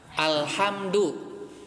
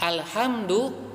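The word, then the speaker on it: الحمد: Tapi orang ya tidak belajar bahasa Arab, mulai dari cara pengucapannya ya sering terdengar menggunakan ha menjadi ha. Alhamdulillah ya, alhamdu ya dengan ha yang besar itu artinya adalah kematian, kebinasaan.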